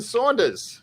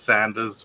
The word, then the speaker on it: Saunders: First off, we have Jonathan Saunders. I hope I pronounced that correctly. Yes, no, that's correct. As long as you don't pronounce it as Sanders, we're all good.